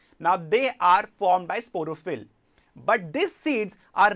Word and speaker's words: sporophyll: If you observe the seeds, now how do you pronounce the word sporophyll?